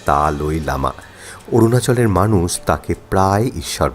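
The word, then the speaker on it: दलाई लामा: তিব্বতি ধর্মগুরু দলাইমা থুরি আসলে তিব্বতি উচ্চারণে ওটা হবে তালই লামা অরুণাচলের মানুষ তাকে প্রায়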